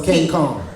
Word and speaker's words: Kane Kong: It's all with K's. Kane. No, it's Kane Kong. Kane Kong. Kane Kong. Yes, Kane Kong.